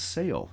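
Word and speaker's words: Selye: Hans Sale, yes, I know that's an odd-looking pronunciation, but I understand that's correct.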